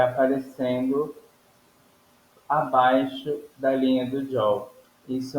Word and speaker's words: jaw: O jaw, na realidade, como se pronuncia jaw, com a língua para cima, com a língua colada no palato, certo?